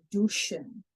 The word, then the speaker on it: douchen: We are known, if you're down to the pronunciations, that this is the ow, but because this is a French word, we have to say it as an oo, like the French do.